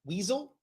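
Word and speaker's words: Wiesel: universe this is I think it's pronounced weasel I I I'm hoping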